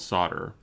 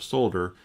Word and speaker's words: solder: calling a solder and not solder where I live it's called solder and if you walk into a store and ask for a soldier they're just gonna look at you funny not everything is pronounced